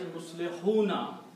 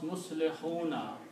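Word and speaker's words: مصلحون: But if you stop here, the rule is of Tajweed that doesn't matter whatever is on the last letter, you don't pronounce that harka. So you say Muslihun, you stop there.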